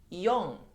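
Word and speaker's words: よん: So the second one is yon. Means 4, like number 4 in Japanese. Okay. We have a different pronunciation as she for number 4, but it's used yon.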